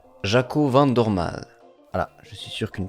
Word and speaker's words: Jaco Van Dormael: près de 17 secondes, il s'avère qu'on prononcerait plutôt Jaco Van Dorm.